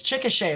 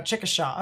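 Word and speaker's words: Chickasha: the most part um that's how us Oklahoma pronounce it it's chicke right or no chicka Shaw okay chicka sha that makes sense no I'm not trying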